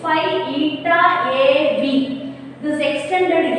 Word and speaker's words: eta: That how you will have to pronounce it? Eta, ETA, right?